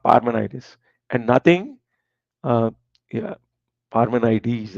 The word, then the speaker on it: Parmenides: And nothing, uh, yeah, Parmenides, I think that is the correct pronunciation, like Archimedes.